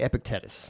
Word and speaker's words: Epictetus: Now, how do you pronounce his name? Epicus. I I say Epictetus.